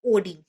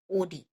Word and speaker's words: Oddi: This is guarded by a sphincter called sphincter of ओडी।